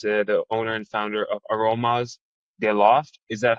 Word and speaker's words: Aromas de Loft: He is the owner and founder of Aromas de Loft. Is that how you pronounce it?